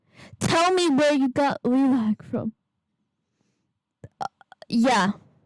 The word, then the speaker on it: Leelac: Anyway, it's leelac. Where did you guys, some of you guys say it like leelac. Where did you get leelac from?